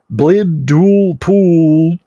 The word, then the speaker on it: Blibdoolpoop: If the extended left claw is grasped while the individual stares upon the altar, and her name is pronounced correctly, Blibdoolpoop, then the creature is immediately transported to the deep waters of the plane where the Sea Mother holds court.